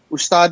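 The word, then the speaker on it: استاد: Is that how it's pronounced, I believe? Ustad and Shagird? Yes, sir. It is. Ustad and Shagird is something like exactly.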